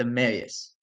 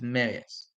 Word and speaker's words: Amarius: A lot of people saying Amarius, it's Amarius. It's how he says it, it's Amarius. Unless he's changed the pronunciation of his name, it's been Amarius. Mims.